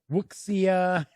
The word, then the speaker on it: wuxia: adventures or you know i always get the pronunciation of this genre of anime and uh manga and things like that wrong uh musia or musia or wuxia i've heard it pronounced umpteen different ways but but that is